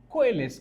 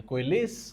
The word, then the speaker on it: coalesce: COALESCE, कोएलिस कहते हैं, ये कोएलिस कहते हैं इसे।